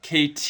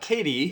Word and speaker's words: KT: Yeah, interestingly enough, KT, you have to emphasize each syllable. It's not Katie. It's not Katie, it's KT.